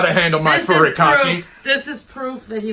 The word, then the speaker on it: furikake: Look, these spices, these seaweed spices, these are furikake.